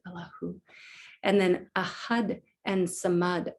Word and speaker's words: Allahu: Every time we say the name Allah as God, the who is at the end, whether we enunciate it or not, but it's inferred all the time. Here we actually pronounce it Allahu.